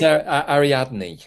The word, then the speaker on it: Ariadne: I think it's Ariadne.